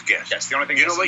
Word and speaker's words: Gest: from a restaurant called I think it's pronounced guest but I'm not sure it's Gest t uh Shaunie Gary here shaie Gary Gary sorry correct yes and pronounce the the the name it is guest the only you know